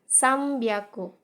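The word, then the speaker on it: さんびゃく: itu kan Ya nah dalam bahasa Jepang ini kita bacanya someby aku Karena airnya ketemu dengan konsonan b maka kita bacanya Jadi huruf M disini Sambi aku dan tetap sama seperti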